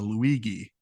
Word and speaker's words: Luigi: You've got to now, hard G that the Luigi.